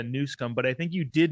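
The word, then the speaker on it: Newsom: well first of all you did pronounce it correctly it is a newsum but I think you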